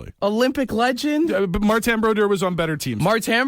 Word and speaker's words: Martin Brodeur: At least to pronounce his name properly. Martin Brodeur.